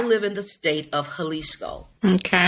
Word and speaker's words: Jalisco: I live in the state of Jalisco. Okay. Jalisco, it starts with a J, Hmm. pronounced like with an H. Yes. Mexican, right? Okay, so the state of Jalisco houses the largest lake